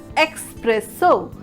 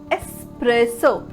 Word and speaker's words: espresso: varieties now very commonly it's a tendency of the people to put unnecessary x to pronounce it as express so but my dear friend it's not expresso it's espresso the spelling is s